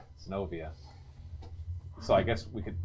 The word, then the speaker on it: Zenobia: Sinovia.